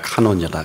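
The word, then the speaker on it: κανών: 우리의 모든 창조의 비밀은 우리의 눈은 놀랍게도 그 기준이 헬라어로 우리가 카논이라 그럽니다. 영어 발음은 캐논이라 그러죠.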